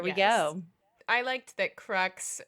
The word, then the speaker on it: crux: I liked that crux rhymed with sex, and the note in there was crux as in cross, which is funny in multiple ways, Tamsin says.